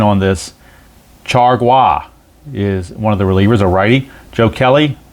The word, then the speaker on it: Chargois: And then they have, and I checked the pronunciation on this, Chargois is one of the relievers, a righty.